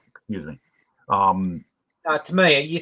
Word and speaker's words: Tamiya: With you know, like Tamiya. Think about Tamiya, excuse me. Tamiya, you said it right the first time.